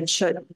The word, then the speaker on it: Chöd: Tibetan Buddhism called the chut process c h o d the D is silent and that chut means to cut through